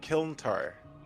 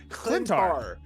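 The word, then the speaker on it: Klyntar: Uh, Kil Kil Kilar Kiltar. The symbiotic surface. I'm gonna press start. What? Yeah. I don't know how to pronounce it. It's K L Y N T A R. It's Clint. Clintar.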